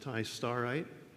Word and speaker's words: Tistarite: year by Ma and Rossman, a titanium Ti203, pronounced tistarite, with the corundum structure.